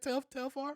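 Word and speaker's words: Telfar: That's how you say it, Telfair.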